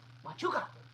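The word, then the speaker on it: Huachuca: He was at that camp, Shahuka, is that how you say it? Mahuka? Wachuca, Wachuca, that's like Hatua, Wachuca.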